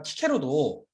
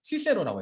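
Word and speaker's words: Cicero: 교회 라틴어 발음은 이런 걸 city 이렇게 말씀드리고 아까 제가 키케로도 그 고전 라틴어 발음으로 우리에게 익숙한 키케로로 읽지만 교회 라틴어 발음은 시세로라고 했어요. 이런 걸 스 발음으로 하는 겁니다.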